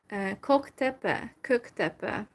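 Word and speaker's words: Kök-Töbe: And also in Almaty I visited, how it's pronounced, Köktepe. Well, I try to pronounce it in a Turkish way because I don't exactly know how to pronounce it in the Kazakh way.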